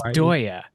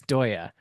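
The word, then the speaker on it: Deye: It's Dya. I didn't know how to pronounce it properly until somebody at Solark corrected me. It's Doya.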